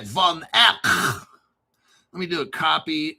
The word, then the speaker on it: Van Eck: Van Eck.